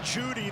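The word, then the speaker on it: Jeudy: much from the pocket Jerry Judy the e is silent baby I'll bring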